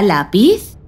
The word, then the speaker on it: lápiz: Lápiz lleva tilde en la letra A, debido a que su sílaba tónica es la penúltima y no termina ni en vocal, ni en la letra N, ni en la letra S.